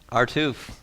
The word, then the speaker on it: RUTF: Do you pronounce RUTF? Artoof.